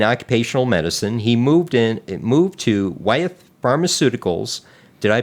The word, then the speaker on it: Wyeth: After 10 years in occupational medicine, he moved to Wyeth Pharmaceuticals Did I pronounce that correctly?